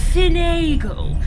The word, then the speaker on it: Finnegal: do you mean lord finnegal i think it's pronounced finagle based on the spelling hmm did he inherit